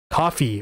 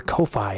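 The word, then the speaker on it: Ko-fi: And then of course the best way of all is coffee or Kofi, however you want to pronounce it.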